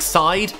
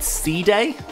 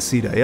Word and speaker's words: Side: then got to um now i know it looks like side fairly sure it's actually supposed to be pronounced sea day that just sounds a